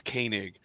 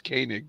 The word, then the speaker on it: Koenig: Um, I was told, and it's Koenig, and I told Mark. I said, Mark, I am not going to use my southern accent in the pronunciation. I said it's Koenig, but thank you, Mark.